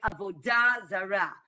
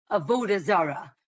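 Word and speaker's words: עבודה זרה: In, I would say, modern Hebrew, we say ta, right? So notar, right? Avodah Zara. That is the Hebrew pronunciation. In the Yiddish pronunciation, they would say Avoda Zara, right?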